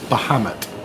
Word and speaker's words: Bahamut: conveniently named by Matty, and I'll let you pronounce it, Matty, since you're here. It's Bahamut.